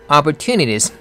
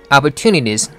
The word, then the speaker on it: opportunities: Opportunities 할 때는 opportunity라고 하는 게 아니죠. 앞에 부분은 upper, upper. 그 다음에 tunities 하면서 스트레스를 줍니다. to가 강하다 보니까 다음에 오는 t는 약하게 발음되는 거죠. 그래서 opportunities, opportunities 이렇게 발음해야 되는데 이분은 리듬까지 바꾸고 있죠.